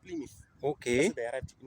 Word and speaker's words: Plymouth: Here we say Plymouth, but it's pronounced Plymouth.